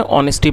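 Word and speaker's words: honesty: दोस्तों यह नाउन है और जैसा मैंने आपको बताया इसमें जो एच है वो साइलेंट है। तो इसको हमें होनेस्टी नहीं पढ़ना। हमें इसमें ऑनेस्टी पढ़ना है।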